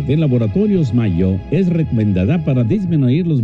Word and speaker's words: Mallo: Les saludan Amparo e Imelda, las jilguerillas, para decirles: aquí donde canta el gallo está Laboratorios Mayo. Y Mayo se escribe como gallo. LLO Laboratorios Mayo.